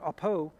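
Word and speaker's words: ἀπό: line uses the letters Alpha Pi Omron it's pronounced APO APO is a Greek preposition that indicates a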